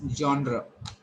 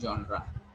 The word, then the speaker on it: genre: It is jaw, then n and r, a sound, not genre.